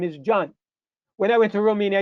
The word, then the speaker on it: John: But when you come to English, the J becomes, you sound the J. So instead of Jan, you have John.